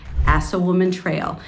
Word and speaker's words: Assawoman Trail: Pond and then there's assawoman Trail and that's exactly what it sounds it is pronounced assawoman Trail and that is really